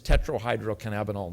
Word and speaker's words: tetrahydrocannabinol: It's tetrahydrocannabinol 9, by the way, is how it's pronounced.